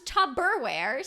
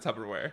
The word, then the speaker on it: Tupperware: you thought it was you thought it was tubberware so I think it was tubberware you're not that's because people pronounce it Tupperware people pronounce it volleyball too no it's volleyball